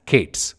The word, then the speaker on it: k8s: K and s in kubernetes and it is pronounced as Kate's so you can either use cube as a shortcut or Kate's or Kate as our kubernetes it's up to